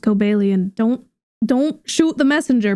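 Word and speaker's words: Cobalion: I don't know why it's pronounced Cobellian.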